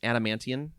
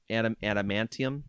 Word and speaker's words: adamantium: The whole thing about Eternals that's important is that it introduces adamant adamantium adamant I think you said it right the second time.